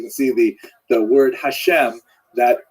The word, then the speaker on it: Hashem: God and the word Hashem of course is pronounced with the letter H but there is no